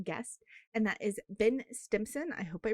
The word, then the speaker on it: Stimpson: My name is Pagan, and today I'm joined by a very awesome guest, and that is Ben Stimpson. I hope I pronounced your last name correctly.